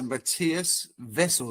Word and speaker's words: Matthias Wessel: So Matias Vessel then. Yes sir. Well pronounced.